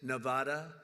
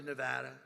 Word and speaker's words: Nevada: And don't ever mispronounce the name. You're not allowed to do that. You mispronounce the name, you got a problem. You ever see somebody when they say it's Nevada? Nevada? No, they're in deep trouble.